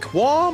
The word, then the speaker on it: qualm: Is it quam or qual? I feel like the L is not pronounced in qu u a l m.